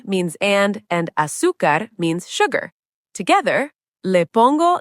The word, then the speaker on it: azúcar: to it, leche means milk, y means and azúcar means sugar. Together, le pongo leche y azúcar. I add milk and sugar to it. Pronunciation heads up, azúcar. The stress is on the first syllable, azúcar, not azúcar, azúcar.